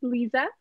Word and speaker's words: Liza: that uh number one my name is pronounced Lisa Lisa and number two Kenny